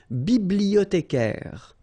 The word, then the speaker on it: bibliothécaire: Then un bibliothécaire. Bibliothé. Remember, in French, the H doesn't exist, so you don't pronounce it.